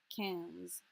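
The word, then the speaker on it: quinze: as a student because it sounded to me like the word can like a soda can cans not sure why i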